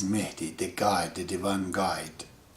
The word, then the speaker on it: Mahdi: called mehti in pronunciation you guys call it mahdi but it is meti the guide the divine